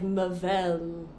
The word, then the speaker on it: Mavel: How do you pronounce it? Like Mavel. Mavel, Very okay. French sounding, evil people.